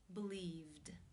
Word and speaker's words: believed: you pronounce this word the infinitive form to believe and the V consonant sound which is voiced therefore it is again case two where the e D is pronounced as the D sound believed how do you pronounce